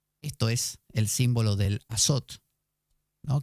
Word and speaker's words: azot: es el símbolo del azot, ¿no? Que suena a azote, pero no. Azot es una palabra que se escribe así, azot, y que tiene